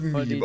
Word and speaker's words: Meme: halt einfach nicht verstanden das nennt man ein meme es wird meme ausgesprochen was was hat er